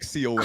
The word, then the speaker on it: conch: It's conch, like conch. KO, like CONK.